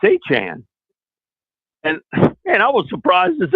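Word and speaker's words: Etienne: And in his first press conference, he says it's not ATN anymore. And I live not far away from a family of ATNs. They spell it the exact same way, said it that way. And he said, it's Achan.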